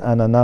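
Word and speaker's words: ananas: بعد كده دي غيزان، وعندنا دي بوم ودي فريز، وعندنا دو لانانا، والانانا ليها نطقين انانا واناناس زي يا اخت بالظبط، يا اوغ ويا اخت، دي زورانج ودي بانان.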